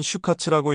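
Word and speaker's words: 終活: 종활은 슈카츠라고 읽는데 일본어로 종말을 뜻하는 슈우마츠와 활동을 뜻하는 카츠도의 합성어입니다.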